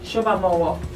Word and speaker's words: Shoba Mowo: Shoba Mowo. Shoba, say like a Yoruba girl. That's how I'm saying it. There's a silent H there.